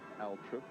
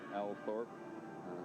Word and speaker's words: Althorp: Mary the Virgin Church at Aluk some say or Althorp some locals say um a connection for